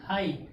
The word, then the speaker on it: high: दूसरा क्या, हाई, हाई means क्या होता है, ऊंचा, HIGH, यहाँ पे भी लास्ट में आ गया, वर्ड के लास्ट में GH आ गया, वर्ड के लास्ट में